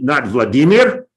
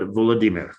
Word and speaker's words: Volodymyr: It's pronounced the Ukrainian way as opposed to Right, Russian. right. Not Vladimir, right, but Volodymyr, right?